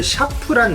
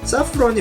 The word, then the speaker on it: 사프론: 사프론 에리도 만들 건데 사프론 같은 경우는 이제 발음을 샤프란 뭐 이렇게 발음하시는 분들도 있는데 샤프론 섬유 연제고 사프론이 맞습니다이 사프론 향신료 중에 가격이